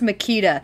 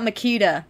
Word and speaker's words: Machida: here's the thing about makita uh i think it's in the the commentary where david greenwalt says it but it's named after a power tool it's a power tool brand makita really so the giant